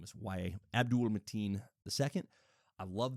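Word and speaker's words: Yahya: There was a Iowa football player whose name was spelled exactly the same way, and that's how he chose to pronounce his name as Ya.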